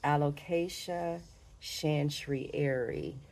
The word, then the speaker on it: Alocasia chantrieri: I highlighted this Alocasia chantrieri. And I think I pronounced it right this time because I actually looked it up.